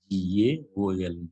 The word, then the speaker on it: gaol: Gaol means Gaol. Gaol. Gaol means jail.